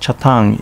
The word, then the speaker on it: Chatan: base in the pacific chatham pronounced chatang in uchnanguchi is where mihama american